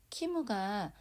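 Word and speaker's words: キム: 코코와 이곳은 키무가 우리나라 성씨 김에 해당하는 말이거든요. 우리나라 김은 일본어로, 일본에는 받침이라는 개념이 없어서 이렇게 음절이 2개가 돼요. 키무.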